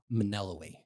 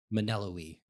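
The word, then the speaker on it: Melinoë: Even though I remember Maneloe is how it's pronounced. Maneloe. And yes. The N before the L? Yeah, it's Maneloe. I promise you it's Maneloe.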